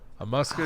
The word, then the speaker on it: musculocutaneous: Musculocutaneous nerve.